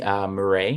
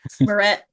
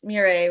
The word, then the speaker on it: Meuret: place those in the chat um so morray am I pronouncing that right morett morett okay Chris Chris I'm sorry